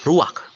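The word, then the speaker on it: רוח: kehadiran Allah secara pribadi kata dalam bahasa ibraninya adalah ruak ruak ya benar tenggorokan kita harus benar-benar bersih di akhir pengucapan jadi apa itu Ruak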